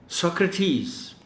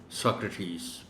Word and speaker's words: Socrates: Socrates, ये इस लफ्ज़ का सही तलफ़्फ़ुज़ है, Socrates.